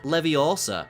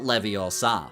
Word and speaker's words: Leviosa: It's pronounced leviosa, not leviosa, for learning the wingardium leviosa spell in charms class.